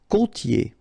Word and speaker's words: côtier: Côtier. Okay, so here you get this O, accent circonflexe. You tend to insist a little bit more on it, so it's a bit lower. Co. Okay. Côtier. Okay. I-E-R here. Ye. Côtier. Froid.